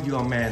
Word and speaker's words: UR MAN: อัลบั้ม ว่า your man แต่ เขียน ur นะ อย่า อ่าน ว่า เอ Man นะ เขน เขียน ว่า อะไร นะ ู are ู are ู are แล้ว ก็ Man อ่าน ว่า your man your man นะ โอเค มี 9 เพลง